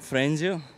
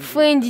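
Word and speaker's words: Fendi: Потом Фрэнди. Правильно говорится, не знаю, Фрэнди или Фрэнди. Фэнди, дебилоид. Купил сумку Фэнди за 2 миллиона рублей.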